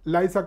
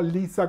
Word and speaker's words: Liza: Que básicamente lo que dice es Liza con Z, no Lisa con S, porque Liza con Z se pronuncia Z y no S, ¿no?